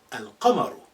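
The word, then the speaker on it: الْقَمَرُ: Here I say al-qamaru. I pronounce al, the, in its totality, al-qamar.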